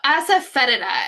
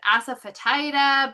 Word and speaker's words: asafoetida: So, as I have gone around around asafetida, but the um it's furula asafeta and the um accent is on the F part, the fet. So, it's feda.